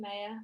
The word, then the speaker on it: Maya: This is Maya's name. There you go. And she likes it pronounced May. Not anything else, just saying.